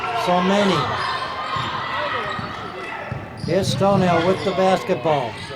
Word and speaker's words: Somani: Her last name is pronounced Somani.